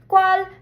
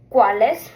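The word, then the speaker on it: cuál: So this kind of sounds like an English Q, but it's actually a C in Spanish with a U after it.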